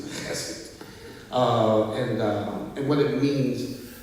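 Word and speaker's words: חסד: You got to say it like that too, chesed.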